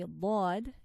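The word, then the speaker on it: ض: So anyway, so this is Dad, articulated by one or both sides of the tongue together. So you could use one side or both sides of the tongue together. And what lies opposite to it, of its internal surface of the upper molars. So where are the upper molars? Here are the upper molars here.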